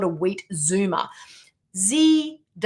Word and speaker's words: zoomer: I have to always spell it because in America, I don't pronounce it the way that it's meant to be. Zoomer, if I was to say it in American.